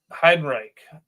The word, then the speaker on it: Heidenreich: Heidenreich.